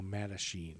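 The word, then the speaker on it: Mattachine: h i n e a matachine just like I was picturing like machine with but not like Charlie Sheen so and the violence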